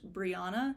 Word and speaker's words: Briana: main character her name is supposed to be pronounced Briana it's b r i a an a Dr